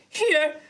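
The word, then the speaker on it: Hiei: Has donated with Welcome Back, High Rollers. Can you say that name again? Here. It's H-I-E-I. How else would you pronounce it? Of course. Hi. Hi. Do the first one again. Here. That's the one.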